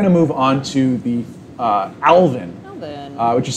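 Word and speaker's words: alevin: And we're going to move on to the alvin. Alvin. Which is spelled A-L-E-V-I-N.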